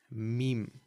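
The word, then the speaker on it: ميم: The next letter is meme, right? So you've got meme, right? I'm writing it like this because everybody knows what a meme is these days.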